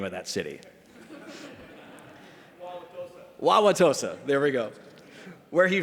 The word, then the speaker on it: Wauwatosa: Wauwatosa, there we go.